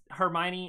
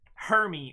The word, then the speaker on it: Hermione: is like for example, it's Hermione and it's like that's how it's spelt and everything like that, and you say Hermy or something like that, people are gonna be like, that is not even close to right.